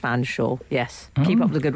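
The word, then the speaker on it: Featherstonehaugh: The surname spelt Featherstone Hall is pronounced Fanshawe.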